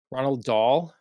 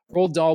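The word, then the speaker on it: Roald Dahl: written um we have the Ronald Dahl I think that's how you say it uh rolled okay people say wrong like that doesn't look like I was felt rolled roll doll books um that we're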